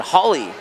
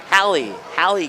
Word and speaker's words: Hallie: Holly Crockett. Is that how you say it? Holly? Hallie Crockett. Okay. Appreciate that correction there.